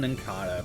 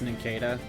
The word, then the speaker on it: Nincada: nankada out of here I used to call him Nincada because I was stupid and I didn't know what cicada was yes good get rid of him oh you didn't you didn't catch it's Nikita because of cicadas I never you never